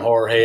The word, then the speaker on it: Jorge: I don't even call him Jorge. I don't think he deserves proper pronunciation with the way he's been acting lately.